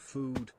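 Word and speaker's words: phở: no reason speaking of food have any of y'all had vietnamese foe pronounced foo best soup to exist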